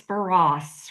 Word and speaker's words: Barrosse: Yeah, it's Barass, right? Baras. Oh, no. Rhymes with lacrosse.